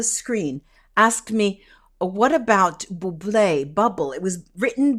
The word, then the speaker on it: Bublé: asked me, what about Bublé, bubble? It was written bubble, and I figured, well, maybe she didn't put the accent on the E, Bublé, then the singer, Bublé.